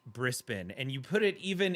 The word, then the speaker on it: Brisbane: Australians to know that to mispronounce Brisbane, Brisbane as Brisbane is is like something that bothers every single Australian I've ever I've ever spoken to. They all feel the need to let you know that it's pronounced Brispen.